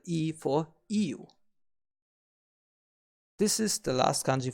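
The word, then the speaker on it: 言う: Now, its kun reading is pronounced iu. However, with the modification, it becomes imas, imashita, itte, itta, and so on. So you want to remember the i here as the starting point.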